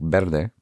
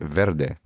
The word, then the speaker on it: verde: Usually when I see a V, it's pronounced like a B, like verde, but our fellow earlier, he pronounced it verde.